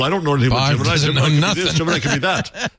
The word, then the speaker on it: Gemini: Gemini when I was a kid I said geminy like the the NASA yeah the NASA rocket program was geminy right no no no it was Gemini that's how you pronounce it it's it's this